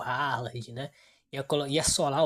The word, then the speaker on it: Haaland: Nós que falamos Haaland aí, porque muita gente, para não falar o lá ele, né? Então, mas o nome correto, a pronúncia correta é Roland, né?